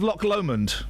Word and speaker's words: Loch Lomond: It's the Body Banks of Loch Lomond. Loch Lomond. It's not lock. Turn the fader off so I can spell it. It's not a lock. It's Loch Lomond.